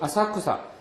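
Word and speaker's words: 浅草: 센소지 또 이유 아사쿠사 여기 앞에 나오는 절 이름에서는 똑같은 우리말로 읽으면 야틀천자에다 풀조차를 써서 천초라고 써놓고 센소지라고 있는데 그 뒤에 나오는 단어에서는 뭐라고 읽어요? 아사쿠사라고 읽는 거죠.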